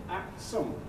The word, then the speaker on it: Aksum: The Aksum, see how it's pronounced? Aksum, or Aksum, same thing.